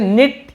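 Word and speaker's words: knit: उसी प्रकार से निट, ये भी के साइलेंट है, ठीक है, निट यानी होता है बुनना, बुनाई करना, जैसे कोई स्वेटर वगैरह बुनते हैं ना, निट कहते हैं उसे।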